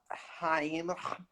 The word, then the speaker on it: Chaim: So Heim. I can't really. How do you pronounce it? Geheim. Yes. Not gonna work. Just pretend to spit at someone and then Yeah, yeah, pretend to yeah.